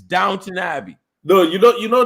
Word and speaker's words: Downton Abbey: abbey like y'all okay it's not downtown abbey it's downton abbey no you don't you